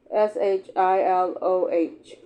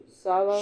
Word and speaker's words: Shiloh: Visitors have alleged heard the screams and moans of dying soldiers from the battlefield of S H I L O H Sil Shiloh.